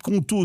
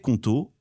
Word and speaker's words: Qonto: Les équipes Conto sont disponibles 7 jours sur 7 et tu